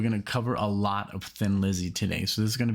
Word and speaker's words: Thin Lizzy: them thin lizzy uh somebody in the comment section said tin lizzy but i guess that would be the way you pronounce it if you're in ireland since they're from ireland but let's just call him